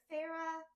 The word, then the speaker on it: Feyre: So okay, so Farah, Feyre. Okay, right? let's talk about name pronunciations.